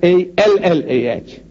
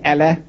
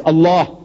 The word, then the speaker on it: Allah: it's spelled out a l a h we spell it as a l l a h as said no man how you spell but